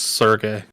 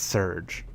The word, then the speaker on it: Serge: Also, I contend that his name is pronounced Sergey. No, it's Surge. But it's spelled like Surge.